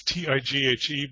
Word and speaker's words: Tighe: It's Tighe, but it's an Irish name, and so it's a little bit complicated, but it's just pronounced simply tie, like a necktie.